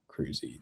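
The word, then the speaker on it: Kruse: I mean, who could have predicted that K R U S E would be Cruzy?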